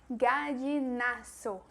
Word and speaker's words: Gallinazo: Se escreve desta maneira, com a E, gallinazo. Então, não olvide, não se esqueça que não existe o som do Z em espanhol.